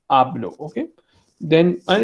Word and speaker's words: hablo: Hablar में H is silent. आपको hablo नहीं बोलना. It's hablo.